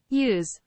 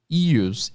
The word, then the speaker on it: ewes: Vamos ver a pronúncia. Ewes. Ewes.